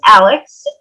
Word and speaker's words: Alyx: everyone um as chris mentioned my name is alex as you can tell from my little um square on our zoom it's spelled a l y x um so i